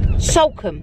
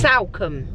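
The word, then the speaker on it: Salcombe: out what's it called sulcum sulcum so that's where we're off to we're off to sulcum not somewhere no no it's it's s-a-l-c-o it's salcam so yes anyway however you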